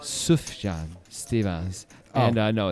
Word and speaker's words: Sufjan Stevens: right I don't think so it's not by Sufjan Stevens it's pronounced soothe John Stevens and I know it's not it's not a